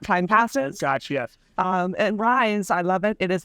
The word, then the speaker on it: Raiz: rented two years ago to rise Federal Credit Union also pronounce R for our Spanish speakers and in its base